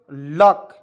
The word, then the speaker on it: luck: चलिए आप देखिए LUCK लक, देखिए दो कंसोनेंट के बीच UC आ गया तो उसको उच्चारण छोड़ देंगे या नहीं करेंगे, तो L से लिखेंगे